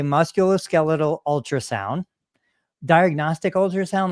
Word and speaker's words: musculoskeletal: the beginning um yes muscular skeletal ultrasound is probably the most correct way to say it a lot of